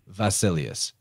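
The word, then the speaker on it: βασιλεύς: Now, in the modern Greek, they would actually pronounce that beta like a V, so it'd be Vasilius.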